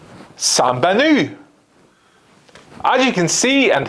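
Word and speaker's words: Сайн байна уу: Well, it's Sambanu.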